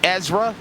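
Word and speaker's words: ESRA: now leading the way this is the ezra pro e series that's how you say it the elite them racing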